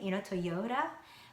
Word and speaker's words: Toyota: it in English way, Toyota, but still my brain recognizes it as Toyota. And for me, it's Toyota. Because of American way, yo has the stress, Toyo.